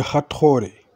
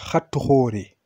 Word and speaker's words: Hathor: Et, comment dire, de Isis et de Hathoré. Hathor. Les Sonikés disent Hathoré. Parce que c'est monosyllabe. Hathoré.